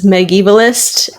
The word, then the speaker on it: Megievalist: I am also known as Megievalist, which is spelled Megievalist. It's a made-up word. It's Megan and medievalist because I study medieval literature, specifically English literature.